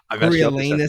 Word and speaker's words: Coriolanus: Coriolanus Snow.